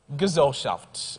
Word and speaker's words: Gesellschaft: Gesellschaft, Gesellschaft, Gesellschaft. The definition is a rationally developed mechanistic type of social relationship characterized by and personally contracted associations between persons. Gesellschaft.